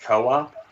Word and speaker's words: Coop: It's pronounced co-op. Okay, so I've heard it both ways. No, it's definitely Coop. Enzo just calls him co-op.